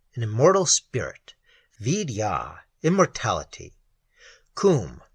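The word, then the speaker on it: Koom: Coombe, pronounced like the Welsh coombe, denotes something of hollowness.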